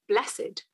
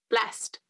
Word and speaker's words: blessed: how i always read i always have been taught to read it blessed but really it's blessed we haven't got that accent on the e have we no it's not good